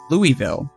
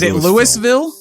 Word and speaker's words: Louisville: it's supposed to be Louisville is it Louisville is it Louisville they people that live there call it Louisville so I mean that